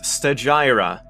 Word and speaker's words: Stagira: area and i should look up how that's pronounced apparently it's stagira stratton of sagira 311 to 254 bc was